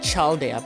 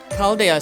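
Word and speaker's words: Chaldea: Now if people were to play this new they would pronounce it chala. But calalda sounds really makes sense.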